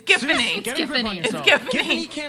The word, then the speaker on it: Giffany: Or maybe it's pronounced Giffany. I'm never really sure. It's Giffany.